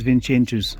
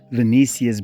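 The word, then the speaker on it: Vinícius: Look at where's Mbappe and where's Vincentus. Oh, let me say Venicius because Barcelona fans get angry when I mispronounces these guys' names. Right.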